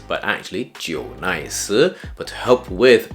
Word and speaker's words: JNICE: J and Ice J and ice isn't actually pronounced J nice but actually Jo nice but to help with pronunciation J nice is okay and they are a brand that